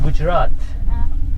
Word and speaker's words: Gujarat: You know, I'm from Gujarat.